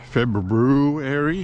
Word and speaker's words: February: February, I have to say it properly.